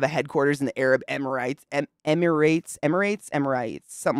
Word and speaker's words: Emirates: Is it Emirates or Emirites? Emirates. Emirates?